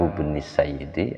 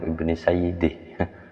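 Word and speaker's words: ابن سيده: Dulu saya bacanya Imam Ibnu Sayyidi. Ndono harokate kuno-kuno. Di sini bacanya Imam Ibnu Sidah, mungkin yang lebih tepatnya karena beliau muhakkiknya lebih alim.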